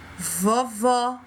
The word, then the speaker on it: vovó: Ceará, observou? Vovó. O som fica aberto e a sílaba que está acentuada, ela é falada de forma mais forte. Quando a gente pronuncia essa sílaba, a gente fala com ênfase, com força.